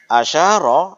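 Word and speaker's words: أشار: Asyara adalah fi'il madhi. Fi'il madhi itu mabniyun alal fathi. Maka membacanya harokat ro yang terakhir adalah fathah. Asyara.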